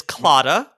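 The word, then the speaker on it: Claddagh: this off i'm gonna read the letters it is c l a d d a g h is british for something a little bad all right talk about everybody alfred i'll pronounce it it is clotta no clue what is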